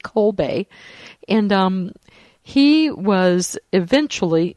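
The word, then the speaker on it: Kolbe: up his history um the last name is spelled k o lbe co Bay and um he was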